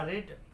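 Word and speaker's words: read: पढ़ना का रीड, इसका तीनों फॉर्म एक ही होता है। रीड का तीनों फॉर्म इंग्लिश में एक ही लिखा जाता है, सिर्फ इसका उच्चारण जो है अलग अलग होता है।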